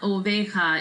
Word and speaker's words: oveja: jamieson each sound la oveja is a sheep again J makes an H down so it's not obey